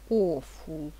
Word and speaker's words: awful: Читается awful. Да, я понимаю, что тут буква такая стоит, а читать надо о.